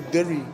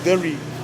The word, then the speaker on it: deri: Now the headdress, we call it the deri. It's pronounced differently between the different languages in the Torres Straits, but for my language it's the deri.